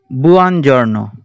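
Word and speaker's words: buongiorno: এন এ অ, জর্ণ, বুয়ান জর্ণ, বুয়ান plus জর্ণ। এই দুটি শব্দ আমরা একত্রে উচ্চারণ করার চেষ্টা করব, ভেঙে উচ্চারণ করব না, অর্থাৎ বুয়ান জর্ণ।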